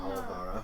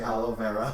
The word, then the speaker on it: Olivara: Olivara. Olivara. What have I been saying? You say aloe vera every time.